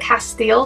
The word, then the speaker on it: castile: oil to make this castel soap other people pronounce it castile soap that's actually how it's supposed to be pronounced but i pronounce it